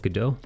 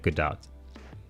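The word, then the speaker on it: Gadot: Fox, most people their default is to pronounce it the French way, Godot, but when you talk to her on when she's said her own name in interviews, she pronounces it Godot.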